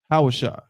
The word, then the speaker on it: Hosea: but KH it's Hosea the proper pronunciation of hosea's name in ancient Hebrew is hawashi right but this look